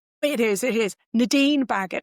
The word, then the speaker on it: Nadine Baggott: Nadine Bagot. N A D I N E B A G O T. Rhymes with maggot.